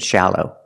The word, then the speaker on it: shallow: first let's look at shallow the first syllable is the short a sound like in Black Cat a sha shallow to make this sound